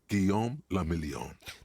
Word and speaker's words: Guillaume le Million: Guillaume le Million. This game is French, too? If it doesn't rhyme, you're not pronouncing it right.